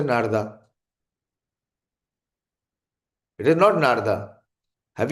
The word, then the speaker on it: नारद: नारदा नारदा बोल रहे हो, अरे इज इट नारदा? What is the name of नारद मुनि?